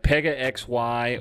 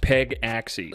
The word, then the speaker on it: Pegaxy: play to earn game pega xy or i've also heard it pronounced peg axey so what is very